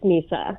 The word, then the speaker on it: Misa: I pronounce your name right hi yeah it's pronounced Misa right perfect thank you for asking so tell